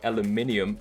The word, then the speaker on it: aluminium: I think these are polished aluminum or aluminium, which is the proper way to say it.